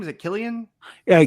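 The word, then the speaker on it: Cillian: how do you say his name is it Killian yeah Killian Murphy yes yeah yeah so I think I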